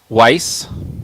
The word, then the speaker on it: Weiss: How do you pronounce that word, JD? Weiss. Okay, Weiss.